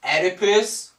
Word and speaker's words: Oedipus: puss Rex what would you say is your marching um actually it's a it's it's Oedipus all right um it's it hasn't all at